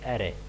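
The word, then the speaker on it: array: एरे को हम discuss करेंगे, इट is pronounced एरे, एरे बोलते हैं या अरे बोलते हैं, एरे को हम डिस्कस करेंगे।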